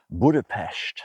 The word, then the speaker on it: Budapest: So very quickly I went out to Budapest, and that is the correct pronunciation.